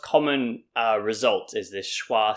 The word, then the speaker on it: schwa: these soft sounds and this sound is called schwa and it's pronounced ah and why do i